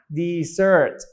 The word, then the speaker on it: dessert: คัน นี้ นะ ครับ ออก เสียง ว่า beazer ลาก เสียง ยาว นะ deezer นะ ครับ ถ้า Desert